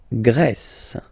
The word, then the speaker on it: Grèce: And the first one, la Grèce. La Grèce. Okay, so remember gr, gr. And then this accent grave like that, open.